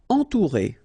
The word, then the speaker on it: entourer: Entourer. Okay, nasal, en, then O-N-U together, ou, entourer.